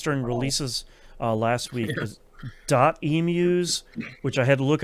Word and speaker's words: Emuse: Emuse, which I had to look up how to pronounce their studio name. It is emu uh which I was wrong about last week.